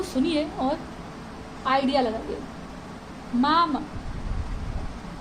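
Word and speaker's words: мама: मामा, मा, म, इसमें जो स्ट्रेस है वो फर्स्ट वॉवल के ऊपर है, यानी आ के ऊपर है।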